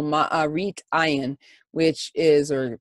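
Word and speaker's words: מראית עין: And unlike the roasted lamb, which is avoided during the Seder meal to avoid what we call ma'arit ayin, which is, or some people will pronounce it maris ayin, basically the idea that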